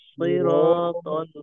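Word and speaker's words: صراط: সিরাতাল মুস্তাকিম ইহদিনাস সিরাতাল মুস্তাকিম এখানে বেশ মোটা উচ্চারণ কয়েকটা সিরাতাল না সিরাতাল মোটা মোটা রাখতে হবে ইহদিনাস সিরাতাল মুস্তাকিম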